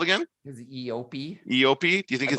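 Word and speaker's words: eopie: it called again his EOP EOP do you think his EOP is gonna have a name I believe it's pronounced yopi yeah it probably will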